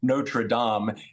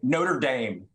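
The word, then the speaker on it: Notre-Dame: finally going to learn to pronounce notredam and instead of saying Notre Dame I really it really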